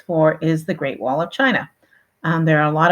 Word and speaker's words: Qin: his name written here chin Shi Wong D um literally meaning the first emperor of China uh the chin part is the very first part you'll notice it is spelled with a Q um this is an